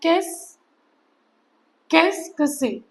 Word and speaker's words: Qu'est-ce que c'est: expression किस किस से हाउ डू you pronounce केस कसक से सो प्रोनाउंस ट केस से कसक से सो यू कैन प्रोनाउंस